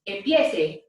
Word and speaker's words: empiece: And that will be pronounced empiece, empiece, and it is spelled E-M-P-I-E-C-E, empiece.